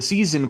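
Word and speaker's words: seisin: just a moment the season Clause that's how you pronounce it like the Four Seasons in AED specifies what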